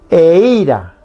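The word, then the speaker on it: eíra: Y ahora si yo le pongo a la I el acento, suena así. Eira. Eira significa miel.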